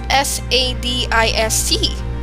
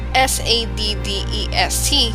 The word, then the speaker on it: sadist: "That's SADIST, not SADDEST, you know," Charles Wallace said and giggled again. "Lots of people don't pronounce it correctly."